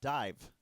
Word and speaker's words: Daimh: The first is a tune, it's actually a song originally by a band called Dive, which is spelled Daimh, because it's Scots Gaelic.